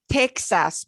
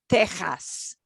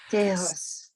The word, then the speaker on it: Texas: And not Texas, but Texas. Tejas. Texas.